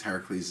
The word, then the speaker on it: Heracles: So rather than take the journey, right, rather than like the 12 labors of Heracles. Heracles is the Greek pronunciation, I believe. Oh no, I know that to be true.